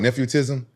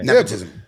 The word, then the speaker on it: nepotism: What you call it? Nephewtism? Yeah. Nepotism. How you say it?